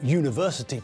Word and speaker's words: university: we pronounce the word it's pronounced as though it begins with a consonant it's that you sound again isn't it the same